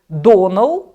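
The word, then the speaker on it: Domhnall: Ви зрозумієте, що там актор говорить, як правильно вимовляється його ім'я. Його звати Донал.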